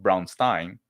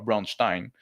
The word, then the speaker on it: Braunstein: scenario, but I think it should be pronounced Braunstein or Braunstein because it's a fictional German town, not some like Jewish guy.